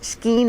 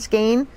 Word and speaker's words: skein: I say it both ways, skein and skein.